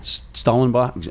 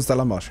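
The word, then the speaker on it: Stellenbosch: Is it Schellenbosch? How do you say it? It's in Schellenbosch, yeah.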